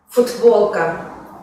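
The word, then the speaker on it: футболка: Esto pasa en el caso de la palabra futbolka, que se escribe con la consonante sorda t, que se pronuncia en el habla como d, ya que está seguida por una consonante sonora ba.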